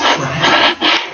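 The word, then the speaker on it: craic: It's CRALC. It's pronounced crack.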